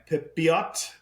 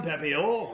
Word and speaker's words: Pepiot: It is Ryan Pepiot. Pepio. Very French of him, Pepio. Ryan Pepio.